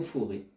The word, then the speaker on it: forêt: la forêt, le mot forêt. Imaginez en français la difficulté, avec le T qui ne s'entend pas, l'accent circonflexe.